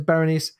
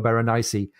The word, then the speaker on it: Berenice: by Captain tennis Dundas we pronounced her name is baronis we think she should actually have four syllables because it's a classic Greek name and might be berenici or Berenice and that would make Jack